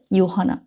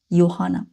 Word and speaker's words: Johanna: ইয়োহানা, দেখেন জে এর উচ্চারণ ইয়োহানা।